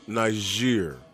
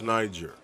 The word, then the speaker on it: Niger: know that that like in our ger was pronounced Niger yes no nice year no I've never said it like that I always agreeing with the first pronouncing yes correct you you thought it was Niger yes I do and all of a sudden